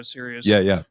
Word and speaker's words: Sirius: And it's spelled different. It's spelled like the star, like the radio Sirius radio. It's not spelled like serious, like I'm very serious, but seriously, why so serious?